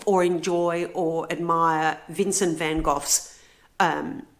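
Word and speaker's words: Van Gogh: Vincent Van Go's um and I say van go it is actually van go um but there is confusion on how to pronounce that so I apologize I I've I've given you the the English version which is van vanov I normally say vanok or van go it is I think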